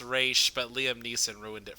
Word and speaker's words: Ra's: Isn't it Raish? Yes, Raish. It's technically pronounced Raish, but Liam Neeson ruined it for everybody.